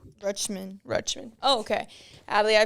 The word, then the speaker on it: Rutschman: of the best catchers in the MLB Adie rushman Rutman Rutman oh okay Adie I two questions for